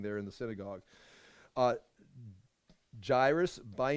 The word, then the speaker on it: Jairus: got the pronunciation uh Jer as in chair with us Charis Jairus Jairus I mean uh one